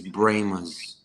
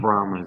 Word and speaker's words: Brahmas: They're like, it's Brahmas, not Brahmas.